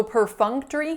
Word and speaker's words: perfunctory: what you're doing so perfunctory has four syllables the first one is purr and the second one is kind of interesting so it looks like fu n it looks like fun but we don't say / fun perfunctory because that K